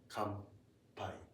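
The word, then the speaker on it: 乾杯: Come pie. I'm sure you've heard this word. Uh probably like when you cheers. Mhm. Yes. Kai. Kai. Okay. Okay. Even though it's written, it's actually pronounced like M.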